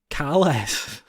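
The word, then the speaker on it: Kahless: I believe it's Kales. Kal? You sound very callous with that pronunciation there.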